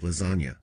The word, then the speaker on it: lasagna: move in silence like lasagna see he's playing with the silent g spelling in lasagna at one point my